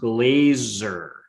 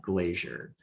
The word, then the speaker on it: Glaser: if you ever read her name is pronounced glazer not glazier ali welcome tell us